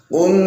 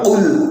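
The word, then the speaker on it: قُلْ: Qul tidak boleh kita membaca qul, bukan qul tapi biasa qul dengan mengangkat lidah bagian belakang, kemudian makhraj dari qaf ialah di pangkal lidah.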